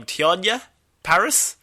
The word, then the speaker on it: Teyonah Parris: She'll be joined by I'm going to pronounce this lady's name wrong, Teyonah Parris?